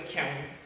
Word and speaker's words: ㄎㄧㄤ: And you pronounce it as Kiang, and it's an onomatopoeia